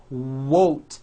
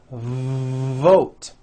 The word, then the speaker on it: vote: not to do this the word is not won't its vote every V that you